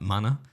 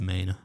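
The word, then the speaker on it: Manor: really maine of texas i was calling it like mana it's in united what danny dyer would call a house yeah but it was apparently pronounced mayna and that's where she's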